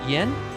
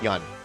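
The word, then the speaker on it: Yeun: How do you say his last name? Yan. Cuz you corrected yourself. Is it Yen? Yan. Yan. Yeah. Y EU N.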